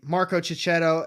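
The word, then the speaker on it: Marco Checchetto: written by chip sidarski artwork I believe is Mark chichetto or Marco chichetto let me say it right Marco chichetto and Matthew Wilson's on the cover I I'm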